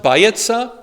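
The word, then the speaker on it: ביצה: which is uh it's it's pronounced by Itza so that that that that diphthong is not a diphthong it's two separate vowels bayesa which means you tell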